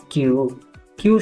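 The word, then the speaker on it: queue: क्यू शब्दमा KUEUE को संयोजनले केवल क्यू जस्तो उच्चारण गर्छ। KUEUE मा क्यू मात्र उच्चारण हुन्छ, ताकि पछाडिको UEUE शब्दहरू उच्चारण हुँदैनन्।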